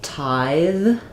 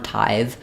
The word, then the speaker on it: tithe: a question about um Tide versus tithe so these are minimal pair the only difference is that we have a du sound here and we have the voiced The Sound here so the E is silent on tithe but typically when we